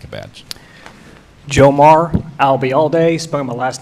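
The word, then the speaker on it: Ayalde: FBI what was that if you uh remember the phrase I'll be here all day and drop it here I'll be all day you got it thank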